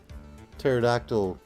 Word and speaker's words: pterodactyl: like why the uh pterodactyl you can't hear it when it goes to the bathroom cuz the p is silent I was going to